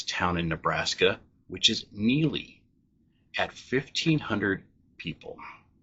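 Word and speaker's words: Neligh: I've heard it mispronounced on a couple podcasts as Neeli, which I could see that by the spelling of it, but it is Neely.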